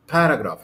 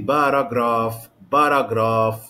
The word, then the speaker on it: paragraph: طيب بعد كده عندي كلمه paragraph. عندي كام syllable؟ 1 2 3 syllables. I have 3 syllables here. The stress is on the first syllable. Okay, so I don't say paragraph.